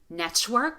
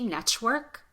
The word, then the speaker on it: network: So instead of network, instead of popping the T, network, network. We create this sound by,